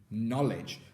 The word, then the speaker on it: knowledge: get your fingers together we've got knowledge so here can you see the w is silent it's not making a sound and the e is actually making a short vowel sound for an e how strange so knowledge